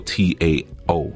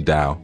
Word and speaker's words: Tao: the dao traditions and usually we see that spell t-a-o so people will say tao but it's ordered or that hey people say but it's actually dao well it's okay you